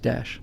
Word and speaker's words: Daesh: like um uh extremists have hijacked uh it's pronounced Dash thanks guys uh you know um extremists have